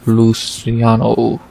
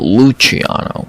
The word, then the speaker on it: Luciano: Sam Hughes versus Stephanie Luciano. Or if I'm a fucking idiot like Bisbing, Luciano, which is not how you say it in the fucking slightest.